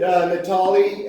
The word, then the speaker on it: Natali: This is Natali, and it does rhyme with Biale, I know that.